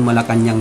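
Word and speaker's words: Malacañang: Kung babagitin sa pronunciation, Malacanang, pero hindi puro Malacanang yan. Malacanang. Wala pong G sa dulo. Malacanang. So yun po yung tama, Malacanang, hindi po Malacanang. Nasanay po tayo ng Malacanang, may G sa dulo.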